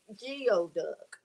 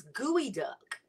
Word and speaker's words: geoduck: of all it's not geoduck all right i know feels so weird um so it's it's gooey duck it's gooey duh it's spelled g-e-o duck but it's pronounced gooey duck and let me tell